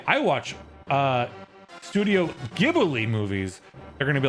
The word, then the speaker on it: Ghibli: Ghibli is Ghibli in Japanese, but from an Italian word pronounced with a solid G.